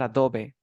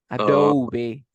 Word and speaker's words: Adobe: know we have Adobe it's not Adobe Adobe Adobe we have Adobe Photoshop